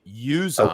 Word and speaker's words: Uzomah: Now, I loved CJ I learned how to say his name this week. Uzomah. Okay. It's Uzomah. Uzomah.